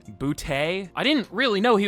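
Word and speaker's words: Boutte: I used to say booty, but bouty.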